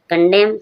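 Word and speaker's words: condemn: कंडेम कंडेम means निंदा करना। एम के बाद एन साइलेंट है।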